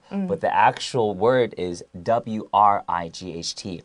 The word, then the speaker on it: Wright: the actual word is w-r-i-g-h-t right right so the w is silent right the singing and